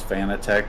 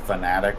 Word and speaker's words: Fanatec: Thing I find funny is that everybody says Fanatec, but apparently it's supposed to be pronounced fanatic, which is a word with negative connotation.